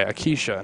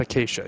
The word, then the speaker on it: Acacia: Kishin McCullough I think what we're gonna go buy a Keisha not acacia even though it's spelled acacia IV CC Eagles girls